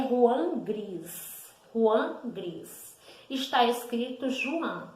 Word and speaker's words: Juan Gris: Então, está escrito Joan, a gente pronuncia Juan. Então, Juan Gris, também Juan Gris, foi um dos grandes nomes do movimento cubista.